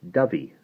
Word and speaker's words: Dovey: "Written in English, Dovey." "The Affendiffy River is the River Dovey, and that place over there is called Aberdovey, which means the mouth of the Dovey.